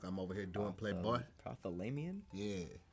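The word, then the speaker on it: prothalamion: Prothomion?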